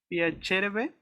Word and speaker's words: piacerebbe: Ti piacerebbe ¿Ti abitare a piacerebbe? Milano? Piacere? No, ¿No? piacerebbe, Ajá, el acento tónico está en la penúltima sílaba.